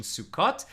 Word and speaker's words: Sukkot: Getting ready for Sukkot, or Israeli pronunciation Sukkot. So we've got our sukkah up.